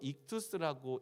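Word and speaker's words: ἰχθύς: 이 물고기를 이제 헬라어로 익투스라고 읽는 거죠.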